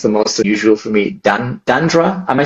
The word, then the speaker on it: Dandra: Danielle, also known as Dan, or this was the most unusual for me, Dandra. Am I saying that right? Dandra. Dandra. It's got like the Brazilian kind of Portuguese.